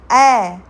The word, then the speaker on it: ऐ: इसको बोलते हैं ऐ।